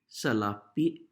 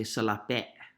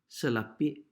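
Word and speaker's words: salape': And then for E, right, you have words like salapi, li'i, right? In our language, we don't say salape or li'e. We say salapi or li'i, right?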